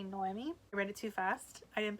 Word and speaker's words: Noemi: for the Phoenix books I wasn't mispronouncing her name um I was saying Naomi her name is actually Noemi ready to fast I